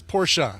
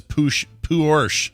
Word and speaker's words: Porsche: so it is Porsche?